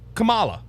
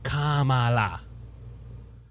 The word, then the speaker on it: Kamala: that worked okay because it was Camala four years she was running when she was in California now that she's running oh my goodness you got to say it right Kamala it it's funny how